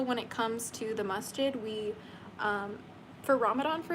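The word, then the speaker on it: masjid: So a Muslim church is called a masid. It's spelled M A S J I D.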